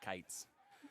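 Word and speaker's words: Kietz: 1-1 When I first met Beau, I told him he he said his name wrong because it's k i e t z and he says it's Kites.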